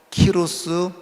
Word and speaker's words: 키루스: 성경에 나와 있는 고입니다 그리고이 스라고 하는 말을 말로 발음하면 키스라고 그러고요 영어로 발음하면 사이러스 그래요 혹시 여러분들 들으신 분들 중에서 키루스 사이러스 그 사람들 다이 고레스에 대한 그 다른 식으로 발음을 한 겁니다이 고레스 아고 하는요 사람이